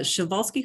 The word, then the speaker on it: Przewalski: The Przewalski horse is the last species of wild horse that's still living in the world. And it's pronounced a little differently than how it's spelled because it's a Polish name.